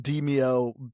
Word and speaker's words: Demeo: But yeah, no, it's it's just supposed to be pronounced deio dungeons and dragons.